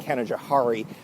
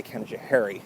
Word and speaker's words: Canajoharie: that very nice and I've been mispronouncing it all my life I've been saying Canajoharie but I've heard a few locals say Canajoharie so I was trying to follow what the locals say alright so that's it